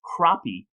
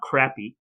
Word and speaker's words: crappie: is quite correct that in most of the country it is pronounced croppy and not crappy did you know that